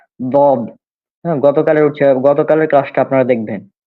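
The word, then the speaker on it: ض: কেউ কেউ লদ বলে, অনেকে দ, মানে দাল এবং মানে কি বলবো, দাই। দাল, দাল এবং এই জ আছে না, দাল এবং জ এর কাছাকাছি এই উচ্চারণটা হবে। মূলত এটা উচ্চারণ দদ।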